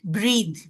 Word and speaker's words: breathe: Breathe. Here it is breathe. And the breath. Here it is breath. When it has e at the end, the pronunciation is breathe.